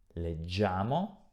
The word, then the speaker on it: leggiamo: Leggo, leggi, legge, leggiamo, senza pronunciare la I, leggete, e di nuovo, suono duro, leggono.